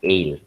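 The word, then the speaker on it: aisle: sunlit another pronunciation pronunciation this is the pronunciation ale aisli is pronounced as ale the ale of space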